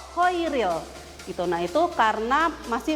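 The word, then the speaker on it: Chairil: Makanya ada namanya Kohairil Anwar tapi pakainya ch dibacanya ko kho koiril.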